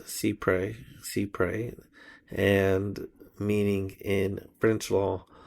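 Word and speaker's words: cy-près: In this situation, American courts apply the doctrine of Cyprus, pronounced cypre, and meaning in French law, so nearly or as near as possible.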